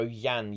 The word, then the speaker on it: Jan: um most commonly known I know his name is John and pronounced English but every time I say John everyone gets mad at me um well it's his polish name we are so there we go yan yan Sobieski right so he is